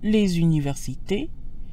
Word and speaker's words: les universités: Notice how les sounds when followed by a vowel, as in les universités. The usually silent S sounds like a Z. Les universités. This is called liaison and helps words flow together.